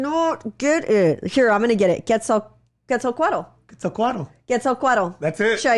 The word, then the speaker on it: Quetzalcoatl: Quetzalcoatl. That's it.